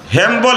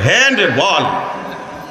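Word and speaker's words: handball: হ্যামবল না। এটারে বলে হ্যান্ডবল। এটারে উচ্চারণ করতে করতে এটা হই গেছে হ্যামবল। আসলে শব্দ হল হ্যান্ডবল।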